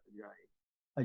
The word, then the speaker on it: Ajayi: How do you pronounce your last name, William? Yeah, you said it right. Okay, say it again. Ajayi.